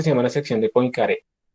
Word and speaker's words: Poincaré: llama la sección de poincaré la pronunciación es francesa no es un encaje bueno